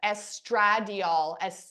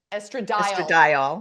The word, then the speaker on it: estradiol: our body we have I always pronounce this L improperly estradiol estrad oh my gosh I always call it estrad every you fit right